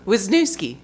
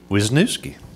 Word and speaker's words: Wisniewski: say it so would would you please pronounce it Wisniewski Wisniewski you can go with you can call me